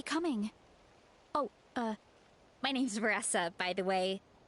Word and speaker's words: Varesa: Uh, my name's Vessa, by the way. Not sure if coach mentioned me before. It is Vanessa. There you go, Rose. It's pronounced Vessa.